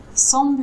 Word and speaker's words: semble: Alors, semble, on ne prononce pas le M. C'est vraiment semble. On ne prononce pas le M. Semble. Non, Semble. ouais, semble. Semble. Semble. Comme le 100, Semble. comme le chiffre 100 et juste bleu.